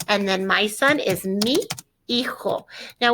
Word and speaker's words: mi hijo: Yo soy más baja que, and then my son is mi hijo. Now, when I pronounce this, it sounds like mijo because this is a silent H and it sounds like one big word, mijo.